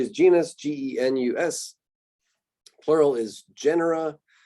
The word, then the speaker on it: genera: genus g-e-n-u-s plural is genera it's not pronounced genre or anything like that genre is a french